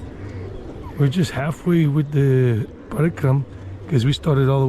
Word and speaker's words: Parikrama: And if you want to do the Parikrama, I mean, that's the way most people pronounce it. Parikrama. Some people might say Parikram.